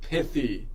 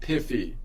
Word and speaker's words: pithy: But then I asked ChatGTP, and he's like, no, it's pronounced pithy, not piffy. You don't have F's in there, okay?